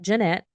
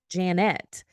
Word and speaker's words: Janette: today to my lovely guest Janet so not Jeanette not uh Janet but it's Janet which has been really interesting for me because